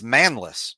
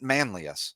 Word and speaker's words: Manlius: who's from uh the bureau Valley area it's manless not Manlius so a correction from like three weeks ago